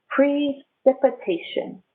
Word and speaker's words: precipitation: is precipitation precipitation precipitation i have long e pre cree that's my first syllable pre tip sounds like f short i shun shun you can think about a different word um this word let me try to spell it hey son education is to learn but i have the same t i o n at the end of the word education i hear it again precipitation precipitation is the water